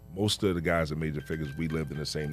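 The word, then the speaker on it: Major Figgaz: And then with Major Figgas. Did I say it right? Yeah, you better than the first time. Because the first time you was just prim and proper, Major Figures.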